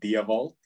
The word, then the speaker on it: Dewald: are calling you correctly so to pronounce my name i would pronounce it like diavault but okay perfect that's